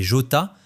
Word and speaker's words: Jota: prototype de course extrême baptisé Jota, d'après la prononciation espagnole de la lettre J, qui renvoyait au règlement de course FIA appendice J.